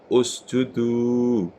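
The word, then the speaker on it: اسجدوا: Kalimat hamzah wasal seperti ini, cara membacanya dihitung huruf ketiga, 1, 2, 3. Maka ketika ini doma, maka doma ini dibaca ditaruh di sini. Jadi ini bacaannya adalah u.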